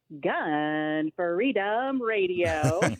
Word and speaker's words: Gun Freedom Radio: freedom radio well i love that you are pronouncing it correctly right because it is emphasis on gun freedom radio and you got it just right um so